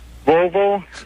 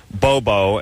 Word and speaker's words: Volvo: back to me please volvo bob okay that worked yeah unlike my barber who says uh bobo and saab bobo and saab those are the way he pronounces it like listen you jackass